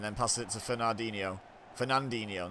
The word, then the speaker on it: Fernandinho: passes it to fernandinho fernandinho not fernino oh good pressure there